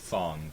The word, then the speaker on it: Fang: this dude's name again it's pronounced Fong but it's spelled Fang oh yeah that guy